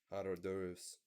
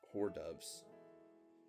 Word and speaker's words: hors d'oeuvres: When Johnson commits the foul pas of pronouncing hors d'oeuvres as whore doves at one party, he instantly becomes the butt of Washington jokes about his hillbilly ways.